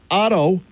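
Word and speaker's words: Ottow: And talk about Blake Otto, O-T-T-O-W. I hope I'm pronouncing his name right.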